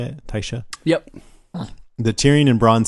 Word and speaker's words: Tysha: Tysha?